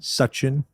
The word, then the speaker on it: Sachin: Can you at least get the pronunciation of his name right? It's his second round. What do you want? Sachin.